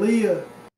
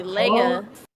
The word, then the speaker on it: Leia: more time I said Leah would you like that I'm gonna I'm gonna pause this um Leah is kind of crazy it's actually Leia it's Leia I know mad ask